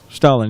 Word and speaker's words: Stalin: Stalin? That's how you say his name, right? Stalin, yeah.